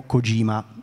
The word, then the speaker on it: Kojima: militaresca sviluppato da ideo kojima sto pronunciando la g in maniera molto scandita perché sennò Matteo si arrabbia Ma io sono Toscano